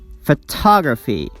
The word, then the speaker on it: photography: that's wrong the next suffix is graphy we stress the vowel before this suffix photography ta photography biography geography pornography and remember the vowel before the suffix is always pronounced like ah sound photography biography geography the